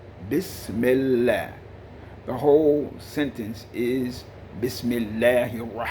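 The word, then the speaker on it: بسم الله: first of course is biss miller not biz okay bismillah the whole sentence is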